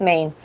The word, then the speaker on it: Maine: Okay, it's a state and it's pronounced Maine.